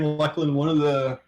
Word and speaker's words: Luclin: You already know how you pronounce Luclin, buddy. Oh, yeah, it's definitely Luclin.